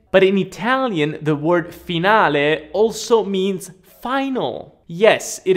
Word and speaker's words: finale: pronunciation it is not finale no you wanna pronounce that e at the end finale finale this word in english